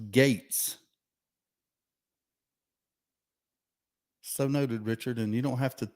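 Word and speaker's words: Gaetz: in it steve respectfully the congressman's name is pronounced gates so noted richard and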